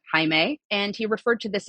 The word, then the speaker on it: Hae: was named High dubar Dean Hae sort of spelled like Jamie but Hae and he referred to